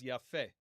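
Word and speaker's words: יפה: Next, we have beautiful, which in the masculine is yafeh. Yafeh. Okay. Kamatz, segol, or the vowels.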